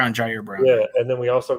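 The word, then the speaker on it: Ji'Ayir Brown: This is probably a wild statement, but if Gibson gets beat out by I think you pronounce it Jari Brown. Jair Brown.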